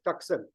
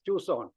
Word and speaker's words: Tucson: time as a college student I used to pronounce this as toxin but when my child grew up she corrected me and said that it is pronounced as Tucson but anybody who grows up in those years